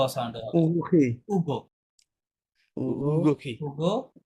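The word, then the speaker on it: Hugo: আচ্ছা, এখন তাহলে আমরা ইংরেজিতে এটা নাম করলে আমরা বলতাম হুগো, তাই না, হুগো বলতাম, কিন্তু ফরাসিতে আপনি হুগো বলতে পারবেন না, বিকজ আশের কোনো সাইলেন্ট সাউন্ড নাই। তাহলে আমাদেরকে পরবর্তী লেটার থেকে পড়া শুরু করতে হবে, উ থেকে শুরু করতে হবে।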